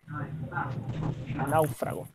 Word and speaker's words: náufrago: vamos a la falta de alguien más frau náufrago como se separan la otra lleva tilde lado fragua a una fragua a ver